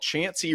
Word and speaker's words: Chancey: This one's called Chancey Rhymes with Chance.